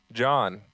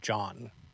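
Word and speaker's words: jawn: They ate John.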